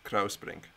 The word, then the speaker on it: Kruisbrink: Yeah, I was going to say, now that I speak Dutch, you have to say au for the U-I, Kruisbrink.